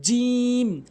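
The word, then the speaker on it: ج: এভাবে নরমালি এরপরে হচ্ছে জিম জিম জিম ভুল উচ্চারণ জিম ভুল উচ্চারণ সঠিক উচ্চারণ হচ্ছে জিম জিম অর্থাৎ জিহ্বার মাঝখানের অংশটা উপরের তালুর সঙ্গে লাগাবেন জিম জিম এরপরে হা ভুল উচ্চারণ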